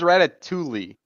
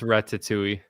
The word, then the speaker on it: Ratatouille: Shrek on or Ratatouille I thought it was ratat Tuli that makes sense it's Ratatouille at least that's how they pronounce it in the movie no I believe you